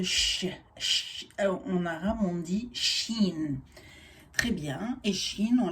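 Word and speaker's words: شين: On dit Shin, ici on lit chat. Et ça se prononce comme en français, comme che.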